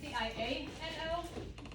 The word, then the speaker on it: Basciano: So it's Basciano. It's pronounced as if it were SHAW in the middle.